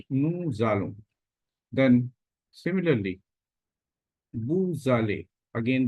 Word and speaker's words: nous allons: Here, S is linked, so it is pronounced like nous allons.